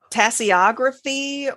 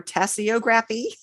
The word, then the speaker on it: tasseography: So tasseography or tasseography.